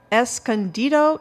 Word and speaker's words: Escondido: Now, Mike lives in Escondido, California. I think I pronounced that right.